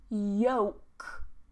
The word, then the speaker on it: yolk: bit more information on those and how to pronounce them, take a look at the live lesson from yesterday. Salmon, salmon. Yolk, yolk, yolk.